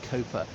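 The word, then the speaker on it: Cowper: I know it's pronounced Cooper.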